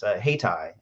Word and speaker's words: Haytii: Hightower mentioned, is HeyTie. It's spelled Haytii.